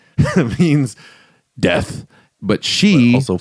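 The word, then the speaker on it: 死: So she means death, but she also 4 means 4, and in the pronunciation you can tell.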